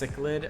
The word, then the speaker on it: cichlid: Your wife pointed out it's pronounced cichlid.